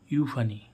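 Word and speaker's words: euphony: एच ओ एन वाई ई यू पी एच ओ एन वाई तो एसी यू का उच्चारण क्या होगा यू फनी क्या होगा यू फनी यू फनी माने क्या होता है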